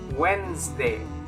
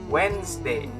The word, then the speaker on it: Wednesday: this word it's actually wednesday wednesday it's like the d is silent okay so it's going